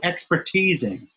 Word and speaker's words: expertising: uh the way I the way I pronounce my invented word is expertising oh yes expertising yourself right it's raising like the teasing bit but anyway it it